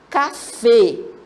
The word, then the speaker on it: café: Ó, palavra café. Você pode observar que a sílaba forte dela, tônica, é a última sílaba.